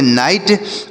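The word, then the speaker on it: knight: रखिएगा स्पेलिंग नहीं तो अगर आप प्रोनंसिएशन केवल ध्यान देंगे तो आप कंफ्यूज हो जाएंगे कि नाइट मतलब तो रात होता है यहां पर सामंत कैसे हो गया स्पेलिंग ध्यान रखिएगा स्पेलिंग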